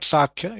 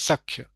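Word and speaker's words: sakhya: Third sak it is not saky it is saka.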